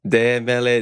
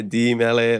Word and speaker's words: De Mele: like is it oio is it de Mele D Mele like just I like to know all that stuff I go with de like deos so and then I'm a